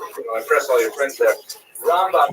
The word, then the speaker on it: Rambam: all your friends there, Rambam is pronounced with the emphasis on the first syllable, Rambam, and Ramban is pronounced with the emphasis on the second syllable, Rambam and Ramban.